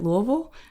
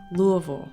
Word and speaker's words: Louisville: I pronounce it Louisville.